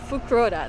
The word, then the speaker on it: Fukuroda: all right so we just made it to fukurova that's how you pronounce it um i'm gonna try and see